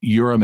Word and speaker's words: Urim: and golden threads also the urim and thumim to use the conventional pronunciation were put into the